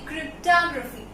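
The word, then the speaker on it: cryptography: उस राइटिंग को बोलेंगे क्रिप्टोग्राफी। ओ प्रोनाउंस नहीं करेंगे, क्रिप्टोग्राफी, ठीक है।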